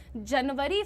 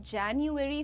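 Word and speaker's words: January: जनवरी फरवरी नहीं होता है। जनवरी, फरवरी, मार्च, अप्रैल, मई, जून, जुलाई, अगस्त, सितंबर, अक्टूबर, नवंबर, दिसंबर होता है।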